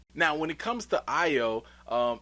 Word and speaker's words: Ayo: comes to io um man i really want to call her ayo you know because her name is spelled ayo so i want to be like hey yo but it's really io so we gonna respect the wakanda name but when it comes